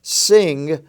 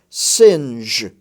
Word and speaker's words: singe: d g e is to make sure that you pronounce the g in the j form rather than the g form as you know the